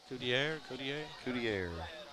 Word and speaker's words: Coudier: We're going to give him a French pronunciation on that. Yeah. Coudier.